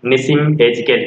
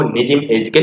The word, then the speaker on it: Nissim Ezekiel: Night of the scorpion which is written by निसिम एजिकेल. कभी कभी इसको निजिम एजिकेल भी बोला जाता है. तो आप सुविधा के अनुसार यू can pronounce the word निसिम एजिकेल.